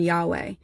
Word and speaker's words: Yahweh: word Yahweh is that the consonants in Yahweh are the only ones where if you're pronouncing it correctly, you don't have to use your lips or your tongue. And so there's like literally the way that it's pronounced is supposed to replicate breath, so that when you're saying Yahweh, even just with the consonants, that it's like, right?